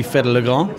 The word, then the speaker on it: Fedde le Grand: It depends on where you're from. So if you would be Dutch, but like I am, it would be Fedde le Grand.